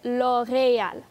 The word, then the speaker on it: L'Oréal: 譬如 L'Oréal。佢個 E 字係有個 accent 嘅，咁就所以係 L'Oréal 嚇。